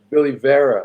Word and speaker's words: Billy Vera: one one quick correction please pronounce my name uh billy vera like geraldo rivera got it yogi please